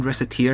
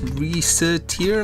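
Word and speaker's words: Recettear: It's tear as in like crying.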